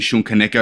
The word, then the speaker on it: Shun Kaneko: your name, because again, I heard you on a podcast the other day, and again, I've been calling you Shun Kaneko.